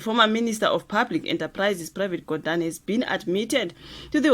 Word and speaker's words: Pravin Gordhan: Is it Pravin Gordhan? Guys, ngicela ningayinaki pronunciation. It's Pravin Gordhan.